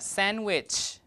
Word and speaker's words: sandwich: assimilation um in here sandwich sandwich now the D is not pronounced because when you have so many uh consonants what should I press here so that it doesn't count this one okay thank you so here the D is deleted first okay because in